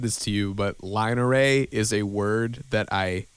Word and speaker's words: line array: word oh like l-i-n-e-r-a-y line array yeah like you because whenever you say it you say it like it's one word yeah but it's line array yeah and that was